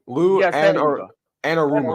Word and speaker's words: Anarumo: Anarumo. Anaramo.